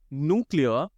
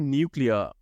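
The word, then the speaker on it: nuclear: Once again, न्यूक्लियर एंड न्यूक्लियर ये दोनों ही correct हैं।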